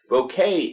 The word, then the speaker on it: bokeh: Japan who mentioned that bokeh is how it's pronounced in most regions. Certain regions will add a higher pitch Y on the end of it, but according to that video, that is the correct pronunciation. So I'm going to stick with bokeh.